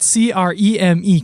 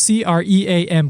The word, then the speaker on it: creme: So, to those that think that C R E M E creme is pronounced C R E A M cream creme, and I really want to emphasize